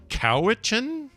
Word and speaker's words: Cowichan: Cowichan. That's one where it's just not obvious which syllable has the emphasis. Yeah. I want to say cow, but maybe it's co.